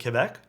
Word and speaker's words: Quebec: only one here who pronounces Quebec in the French way like Quebec I could pronounce it